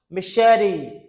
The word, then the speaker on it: machete: Machete. Machete. You see the T sounds like D. This is a flat T.